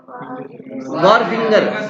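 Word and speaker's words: wharfinger: Ware house keeper और वार फिंगर, इसमें H silent है, उसी को बोलते हैं, वेयर हाउस कीपर को ही बोलते हैं।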